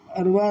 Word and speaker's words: اروا: انہوں نے کہا اروا را کے سکون اور واو کے ساتھ مقصود ہے.